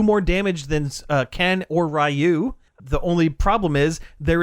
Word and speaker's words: Ryu: off rayu or Ryu or however you pronounce it it's it's rayu in Street Fighter the movie the game but